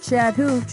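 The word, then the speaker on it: Chattahoochee: I'm from Columbus Georgia there's a river there called Chad hoo but it's spelled like chattah huchi really a while ago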